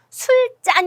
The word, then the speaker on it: 술잔: 유리 자율이 자 그리고 얘는 술 짠 이에요 우리가 술 먹을 때는 짠하고 서 건배하고 먹잖아요 그러니까 술잔으로 된 소리가 난다 라고 생각하심 되겠습니다 근데 유리 자는 잘